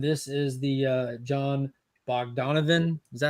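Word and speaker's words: Bogdanove: number one and this is the uh John bog Donovan is that how you say it yes it's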